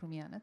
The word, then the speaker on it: Rumiana: pronounced as Romania but Rumiana thank you uh Rana